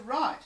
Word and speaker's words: write: right thing all right this one is when we're talking about using hand to write and it has a silent W so let's spell this